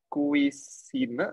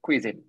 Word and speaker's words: cuisine: we have um makanan it's not kui but cuisine okay decade it's not